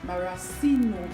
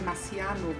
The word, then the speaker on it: maraschino: I will also be using some maraschino cherry. Some persons will say Marciano, but you know, I'm saying what I'm seeing on my packaging, pronouncing it as I see it.